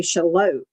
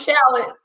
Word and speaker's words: Charlotte: So, but, it took me forever to learn how to say Charlotte. I mean, because if you look at how it's spelled, yeah, it's confusing. Yes, I thought it was shallot.